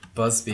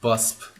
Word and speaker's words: Busby: Busby. Yeah. It's Oh Busby. wow, mind blown. I've always read it as just Busp.